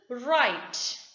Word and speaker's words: write: w become silent now w is not pronounced at the beginning of the word when it is before the letter r for example write w-r-i-t-e write a letter now